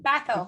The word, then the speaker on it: Bhathal: And we have our divine friend, Gagan Bhathal. Bhathal. Yes. Last name, say it again, Bhathal. Uh, Bhathal. It's Bhathal.